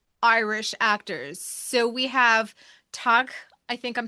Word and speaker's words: Tadhg: So we have Tag I think I'm saying it right. It's Tadhg, Murphy.